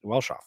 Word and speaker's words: Welschof: That's pronounced Welschof. Yeah, it's exactly how it's pronounced.